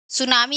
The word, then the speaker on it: सुनामी: सुनामी एक क्या है?